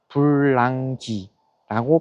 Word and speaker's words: 불랑기: 그런데 그 프랑크라는 발음을 중국인들이 음해서 한자로 써놓 써 놓으면 써 놓은 것을 그 한자를 그대로 한국식으로 읽은게 불랑기라고 발음이 된답니다.